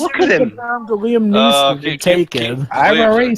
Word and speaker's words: Neeson: The Liam Neeson taken. I've already said keep that nickname for another time. You'll need it. Although for some reason you pronounced it Nielsen.